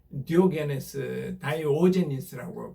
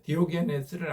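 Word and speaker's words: Diogenes: 여러분 그리스 철학자 다이오제니스라고 발음하기도 하는데 디오게네스를 아시죠?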